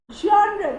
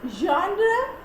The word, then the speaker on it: genre: Genre. The pronunciation is genre and not genre.